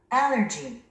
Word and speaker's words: Allergy: Allergy. Allergy. Allergy. Allergy. Allergy. 스트레스가 맨 앞에 있군요. 우리 한국인들은 이 단어를 알레르기 이렇게도 하고 또는 얼러지라고 이렇게도 발음도 합니다. 근데 원어민들은 Allergy. Allergy. 스트레스가 맨 앞에 있죠?